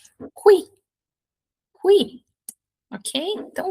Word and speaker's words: qui: H, uma regra importante, pessoal, que tô pensando aqui, eh, se eu não tô deixando escapar nada, a letra U é sempre pronunciada, tá?